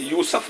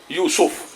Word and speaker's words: یوسف: تلفظ ویسے یوسف نہیں ہے, یوسف. جناب گرامر کے اعتبار سے کہیں کہیں یوسف آیا, لیکن اصل جو اسم کے اعتبار سے وہ یوسف ہے.